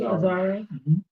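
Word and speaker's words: Azzaro: And Outlaw that that fragrance is inspired by Wanted by um Aaro. Am I pronouncing that correctly? Aaro.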